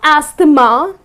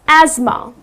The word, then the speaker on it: asthma: It's not ama. Okay. Because the way it's spelled people tend to pronounce it incorrectly. People tend to say ama but it's not ama. The correct pronunciation is asthma.